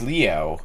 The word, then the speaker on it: Leo: It's written with the kanji for a lion, to be sure, but it's pronounced Leo.